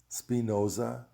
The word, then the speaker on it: Spinoza: so i've done my homework and the correct pronunciation is descartes spinoza leibniz schopenhauer and hegel so i'm letting you